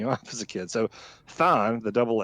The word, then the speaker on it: Thaan: So Thaan, the double A, that is the correct pronunciation. But it can, it can. I've had people call it Than, like Thando Mm-hmm.